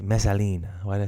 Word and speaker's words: Messalina: Why did I say Messalina? Messalina.